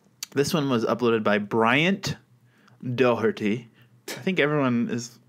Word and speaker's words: Bryant: Oh, hey, Bryant. It's almost three syllables because you have to work to get that T in there.